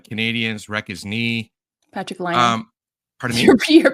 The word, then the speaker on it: Laine: Patrick Laine. Pardon me? Your pronunciation is on point today.